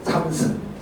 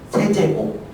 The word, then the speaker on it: 세제곱: 자, 이거 뭐라고 읽어주냐면 한 절반 정도 이렇게 읽어요. 2의 3승. 절반의 학생은 이렇게 읽어요. 2의 세제곱. 자, 뭐야? 2의 세제곱이다 라고 읽어야 돼요.